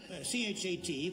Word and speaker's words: chat: Well, C-H-A-T, pronounced cha, means, Oh, I know what that means.